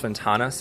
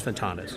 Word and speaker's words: Ventanas: what again las las ventanas okay for the v as in victor yes that's right i think you pronounce the v like of the b like bentanas or something yeah the translation took